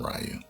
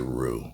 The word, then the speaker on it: Ryu: We called him Ryu. I know his name is Ryu or some people say Roo. Supposed to pronounce it Roo, but um, Ryu in the '90s film looks better than this one to me.